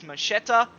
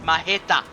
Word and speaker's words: Macheta: And last week I called him Macheta which would be a more Englishstyled pronunciation but macheta means machete in Polish apparently. Oh, his bumper looks not nice. And according to him, the Polish way to pronunciate is Mahetta.